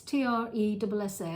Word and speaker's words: Tressa: jumper called, well, a Tresse. It's Tressa.